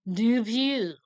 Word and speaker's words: Dupieux: That's how we're saying the first name, and fine, I will give you the sufferable French pronunciation, Quentin Dupieux.